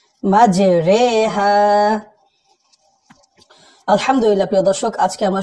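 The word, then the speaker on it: مَجْرٰىهَا: এরপর দর্শক, পুরো কোরআন শরীফের ভিতরে আমরা জানি জেরের উচ্চারণ কিন্তু রসিকারের মতো হয়, কিন্তু এখানে একারের মতো উচ্চারণ হবে, মানে রজের রি না হয়ে রজের রে, মাঝে রে হা, মাঝে রে হা।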